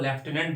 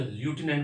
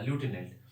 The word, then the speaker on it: lieutenant: इसलिए हम लोग लेफ्टिनेंट बोलते हैं। एक्चुअली इंग्लिश मूवी आप देखेंगे ना, हॉलीवुड मूवी, तो उसमें ल्यूटिनेंट बोला जाता है, वहां लेफ्टिनेंट कोई नहीं बोलता, ल्यूटिनेंट।